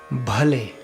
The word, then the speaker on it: भले: That is, whenever you see an H after a consonant, you need to hear the wind, you feel the wind on your hand on that word.